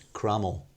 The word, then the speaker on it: Cromwell: And that indicates to me that very common thing in Tudor pronunciation has happened. It was Crummell.